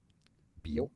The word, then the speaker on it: Biot: So Jean-Baptiste Biot. Biot is how you say it. Yes, the T is silent because it's French and it's not bio, but Biot.